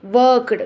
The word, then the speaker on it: worked: Okay, worked, when you are pronouncing worked, the t you will pronounce it, no?